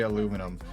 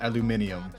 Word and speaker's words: aluminium: out to me was how they say aluminum, which is aluminium.